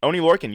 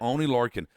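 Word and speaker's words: Oney Lorcan: Oni Lurin. You got it. Oni Lurin.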